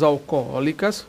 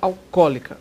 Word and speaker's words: alcoólica: as propagandas de bebidas alcoólicas cuidado com a pronúncia tá o acento É segundo ó não no primeiro ah existem dois olos né A propósito né o pessoal fala a bebida alcoólica a bebida alcoólica Ok